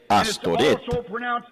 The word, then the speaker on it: Astoret: diosa Luna una diosa astoret y s h t o r astoret y también se pronuncia a s t a r t asarte está en la moneda